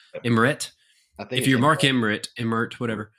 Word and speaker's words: Emmert: Mark Emmert is how you say his name? Emmert.